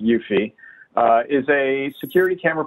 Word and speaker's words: Eufy: talking about so uh yuffie again challenging my pronunciation skills i'm pretty sure it's e-u-f-y but i'm pretty sure it's pronounced yuffie uh is a security